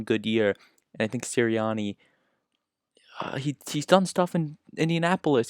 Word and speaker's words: Sirianni: And staying in that NFC East division, the Philadelphia Eagles have themselves a new head coach, Nick Sirianni, I believe is how you pronounce his name.